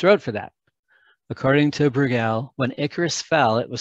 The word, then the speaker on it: Bruegel: done by a painter with my Midwest pronunciation is probably Peter Bruegel, Bruegel, in 1555.